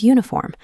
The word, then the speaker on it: uniform: This distinction is clearest with words that start with the letter U, like umbrella and uniform. While umbrella begins with a vowel sound, uniform is pronounced with a Y sound.